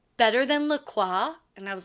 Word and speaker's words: LaCroix: miss pronounce it bitch it's Lacroix Lacroix everybody calm down um it's like st. croix yeah we don't say st. quoi all right no you